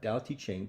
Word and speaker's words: Tao Te Ching: do this and you're okay with this uh dow t chain pronounced more or less can be translated as the